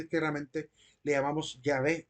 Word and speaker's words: Yahvé: Le corregí a la compañera que la manera más correcta es Yahvé y no Jehová, por lo que voy a explicar a continuación.